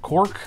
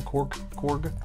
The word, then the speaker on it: Korg: he also plays uh cork the the rock man said you say his name korg oh yeah oh yeah